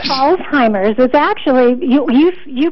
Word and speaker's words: Alzheimer's: what is it Marly it's Alzheimer's and Rosie actually should be pronounced like a TZ like Alzheimer's all right I will